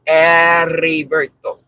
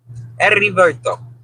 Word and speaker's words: Heriberto: The way they pronounce their name is Heriberto. Heriberto.